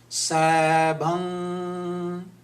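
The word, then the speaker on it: ਸੈਭੰ: So the word Sabhang, it should be like this. This is the correct pronunciation of the word Sabhang. Can you speak like this? Sabang. Sabhang. Sabang. This is N sound. I have put a dot here. This is the N sound.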